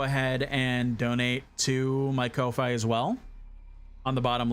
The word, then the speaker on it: Ko-fi: Weaver says, always thought it's pronounced Kofi because it is Kofi. I don't know why. I just call it Ko-Fi. It's wrong, and I know it's wrong, but I've gaslit my brain into basically thinking of that.